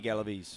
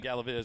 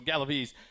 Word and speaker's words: Galves: Galveves. Sammy Galves. I've been saying it wrong. I just wanted to make sure. I've been saying Galveves. So, Galves, he he's it's kind